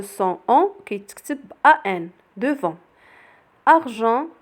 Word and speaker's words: argent: argent كذلك كاين لو son on ولكن كيتكتب avec EN.